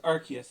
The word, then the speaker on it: Arceus: I am playing Pokemon Legends Arceus, and yes, that is actually how it's pronounced.